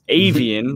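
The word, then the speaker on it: Aviiian: spelled with three eyes it's avian like a like the scientific category for birds or something like that um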